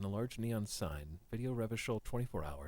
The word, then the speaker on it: Revachol: Revachol's pronounced Revachol.